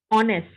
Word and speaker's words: honest: that is this word the letter H is silent so the pronunciation of this uh is honest we begin from this